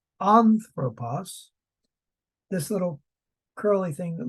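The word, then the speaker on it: ἄνθρωπος: in the Bible and that has an accent on the first syllable so it's anthropos this little curly thing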